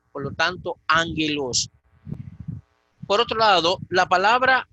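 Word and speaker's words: ἄγγελος: Ya pusimos el primer ejemplo, la palabra ángelos, gamma delante de gamma. La primera gamma va a tener el valor de nu.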